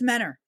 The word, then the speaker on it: Mentor: It looks like Mentor, but it's Mentor. It's better in Mentor.